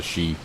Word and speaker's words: Sidhe: this area of the sheet well that's how you pronounce it I would not have guessed that looking at those letters he construed the goods